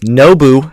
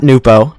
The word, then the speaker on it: Nou: Nou as it's pronounced, not Nupo.